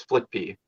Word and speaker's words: Fliqpy: and Shifty, Flippy, which in his evil form is Flippy, which is spelled Fliqpy. They flipped the first P backwards, thus making it a Q.